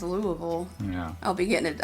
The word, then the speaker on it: Louisville: sure he probably says Louisville yeah I'll be getting it I'll be getting a message yeah Mike was correct it's Louisville yeah Louis film Louisville okay I'll